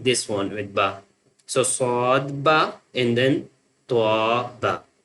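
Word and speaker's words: ص: So sheen lam sheen lam sheen lam The next one swad and then dwad swad and then dwad swad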